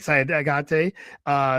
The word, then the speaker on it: Sidaugaite: Simona Sidaugaite, I said it right, Sidaugaite.